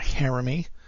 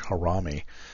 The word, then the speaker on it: harami: pattern the bullish harami also heard people uh pronounce it uh Jeremy um maybe it's my accent I call it the bullish harami uh it's a small